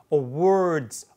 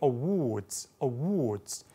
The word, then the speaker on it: awards: awards. 자, 미국식 이렇게 했는데 영국식으로 awards. 아까 water, water 한 것처럼 입술 훨씬 더 둥글게 모아서 발음을 하는 거죠.